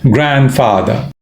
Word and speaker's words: grandfather: is dropped grandmother grandfather the D the D is dropped grandfather my sister's children again